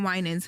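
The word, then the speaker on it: Winans: So, I'm saying the last name wrong. Uh, is it? Yes, Marvin. Marvin Winens who is he is in relation to CCBB, the whole big gospel family.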